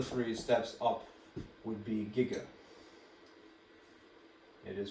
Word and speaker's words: giga: and then another three steps up would be gigger it is pronounced gigger not all right and it is capital letters